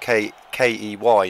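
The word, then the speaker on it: quay: And key is spelled K-E-Y normally. What he's referred to is key, as in the side next to some water, which is normally used for things like harbour.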